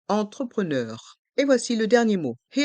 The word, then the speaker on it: entrepreneur: begin e end entrepreneur ce mot a deux sons distinctifs en au début du mot e n et E à la fin du mot les vOYEL eu u entrepreneur et voici le dernier